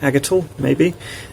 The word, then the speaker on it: Aigital: Aigital, like D-I-G-I-T-A-L, but A instead. Aigital, maybe.